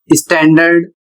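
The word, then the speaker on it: standard: Next शब्द है स्टैंडर्ड। इस शब्द में देख सकते हैं एन के बाद डी आया है, लेकिन यहाँ पर डी साइलेंट नहीं हो रहा है।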